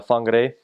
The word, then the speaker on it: Whangarei: And I was my first area was Whangarei, and it was weird as a missionary because the way that you think that it was an F, WH is pronounced F.